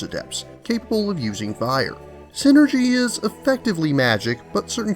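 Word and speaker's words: Psynergy: the ability to use synergy spelled with a silent p to control the elements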